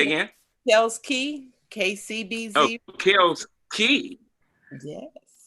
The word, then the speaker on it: Kels Key: Oh, Kels Key. Yes. It is spelled K-E-Y, so I should have said Key, but I think I just like saying K.